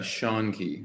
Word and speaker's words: Schoenke: Yeah, it's Schoenke, like the name Shunke. Sean, and Key. Okay. you're close. You're real close, and you're kind of mixing the American and the German way of pronouncing it.